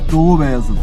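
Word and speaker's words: Doğubayazıt: Dogubayazit.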